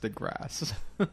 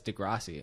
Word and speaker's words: deGrasse: like Neil deGrasse II it's pronounced the grass only I just hear that his comedian friend introduced him on Startalk radio as Degrassi all the time so that's he's wrong too he maybe maybe just